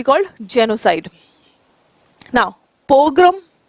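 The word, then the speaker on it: pogrom: नाउ पोग्रम, पोग्रम देखना, ये प्रोग्राम नहीं है, ठीक है।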